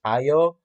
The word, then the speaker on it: Ayo: So so I do like that part, and the fact that he's very casual with I think her pronunciation is Ayo.